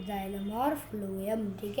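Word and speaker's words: phloem: ठीक है, तो देखो जाइलम है, फ्लोएम है। देखो पहले फ्लोएम है, तो देखो ये फ है, फ फ फ फ प्रोनाउंसिएशन देखो, फ्लोएम, फ्लोएम।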